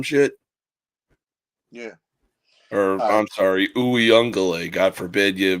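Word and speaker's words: Uiagalelei: He's looking like DJ Ukulele from like what when he was back there 5 years ago or some shit. Yeah. Or I'm sorry, Uyungale.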